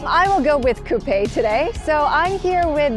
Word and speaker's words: coupé: I do know that there are two different versions, but I believe that a lot of you have been saying that the Coupé is the right way to pronounce it.